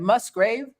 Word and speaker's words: Musgrave: Musgrave? Musgrave? Like a cemetery. Grave. Like a cemetery. Yeah, but the first cemetery, part. grave site. Musgrave? Johny Bob Must like a musgrave. Musgrave.